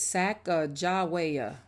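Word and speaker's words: Sacajawea: has a fancy name saka jawia you say it like this sack jawaya later miss glass has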